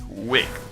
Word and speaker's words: wicked: So the ed is pronounced.